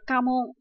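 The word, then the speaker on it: 家紋: Từ này được đọc là Kamon.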